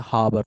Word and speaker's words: Haber: as a ha process Haber some people pronounce it as a harbor process the harbor habber process okay then some